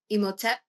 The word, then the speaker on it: Imhotep: It's really potent deck, and the card that I pulled, how would you pronounce this, Millie? Imhotep.